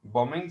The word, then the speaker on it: bombing: up to the bombing bombing silent b for three months or